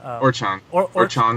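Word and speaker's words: Orochon: Orchan.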